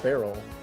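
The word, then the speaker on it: beryl: all barrel do a bear ber yl yeah you you pronounce it barrel do a barrel ball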